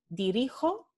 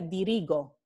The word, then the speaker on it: dirijo: de g aj dirigir dirijo y es necesario porque si pusiéramos aquí una g se pronunciaría dirigó entonces ya cambiaría la pronunciación cambio de g con